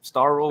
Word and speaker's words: Starro: How you pronounce that Starfish's villain name? Starro, That's figure of the premiere.